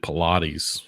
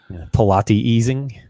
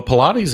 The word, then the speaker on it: Pilates: do you say that but pilatti easing that's not that is not correct at all so Well Pilates is what got the